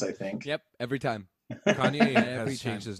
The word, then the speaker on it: Kanye: I do Kanye every time. Mm-hmm. And then Yeezy. YEEZY. That'd be a good guess, I think. Yep, every time. Kanye has changed his name now to Ye, though.